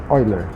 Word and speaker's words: Euler: Se escreve Euler, mas lemos Euler, tá?